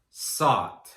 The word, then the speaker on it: sought: Again, there are just 3 sounds in those past and past participle forms. S, ah, t, sought.